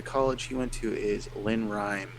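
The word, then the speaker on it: Lenoir-Rhyne: he went to is Lynn Rhyme, is how you say it.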